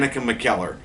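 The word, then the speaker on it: McKellar: uh I last night I couldn't pronounce her last name it's Dan mckel uh but yeah um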